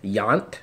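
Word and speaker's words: Jandt: class it's written by Fred Yount that's how you say his last name J a nd T is how it's spelled and I knew Fred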